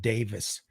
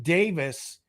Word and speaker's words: Davies: hodgson and rick it's it's spelled davies but i think he actually pronounces it davis rick davis uh those